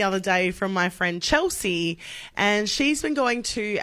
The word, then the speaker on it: Chelsea: it is normal so c h e LS EA Chelsea well every time she goes there they write it correctly on the cup but they pronounce it chissa that's not my name like Melissa chissa has